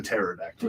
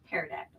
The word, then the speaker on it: pterodactyl: man all right the pterodactyl the silent P or you can say you pronounce the P it's up to you do you pronounce the p in your pterodactyl or do you not pterodactyl I don't terrordactyl Terror